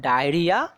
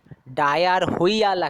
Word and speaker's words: diarrhoea: নাম ডায়রিয়া, DIARRHOEA, DIARRHOEA, ডায়ার হইয়া মনে হচ্ছে বলছি, ডায়ার হইয়া, ডায়ার হইয়া হয় না, ওটা সাইলেন্ট থাকে, বিকজ পরপর দুখানা দেখো ভাওয়েল আছে, তিনখানা পরপর ভাওয়েল আছে, সো আমরা বলি, উচ্চারণ করি ডায়রিয়া।